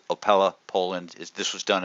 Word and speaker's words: Opole: it correctly I went on Google found your pronunciation I still could have screwed it up but it's opella Poland is this was done at the University